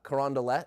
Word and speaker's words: Carondelet: The Carondelet. Carondelet.